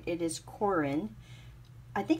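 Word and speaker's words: Koren: It is Corin. I think it's just my accent. It's K-O-R-E-N, Corin.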